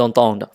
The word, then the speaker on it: entendent: On doit se prononcer le de ici. Ils entendent. Tức là cái cột bên phải thì là sao?